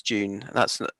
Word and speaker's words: Dune: So when's Dune meant to be out? Oh, I don't know. Like June 2021. Sorry. Yeah, it's pronounced June, Russ. Like June Whitfield.